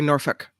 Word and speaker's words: Norfolk: I don't pronounce the L though. I just say Norfolk Southern.